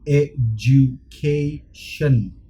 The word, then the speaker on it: education: โอเคคนถ่ายส่วนมากจะบอกว่า education แต่จริงๆถ้าเข้าใจกฎภาษาอังกฤษมันจะบอกว่าถ้า d เสียง d กับเสียง j อยู่รวมกันมันจะอ่านว่า j แล้วก็ออกเป็น education โอเค education alright โอเคต่อไป subject subject but this